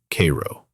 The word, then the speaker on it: Cairo: Down at the very tip of Illinois, where the Ohio and Mississippi rivers meet, sits Cairo, pronounced Cairo.